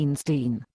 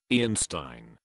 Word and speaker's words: Ian Stein: your back on me, Einstein. Sorry, this software package is not that intuitive to use. Is that better? Oh, by the way, my name is pronounced Stein, Ian Stein.